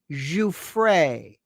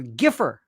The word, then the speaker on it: Giuffre: Learn how to pronounce Giuffre. Virginia Giuffre. One moron called her Giffer.